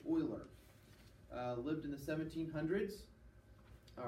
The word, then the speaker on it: Euler: the kings Leonard Euler all right that's Euler pronounced Euler lived in the 1700s all right he's born